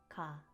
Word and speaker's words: 가: By putting these two Korean letters together, we can make the syllable block ga.